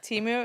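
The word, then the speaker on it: Temu: Timu, is that how you say it? Yes.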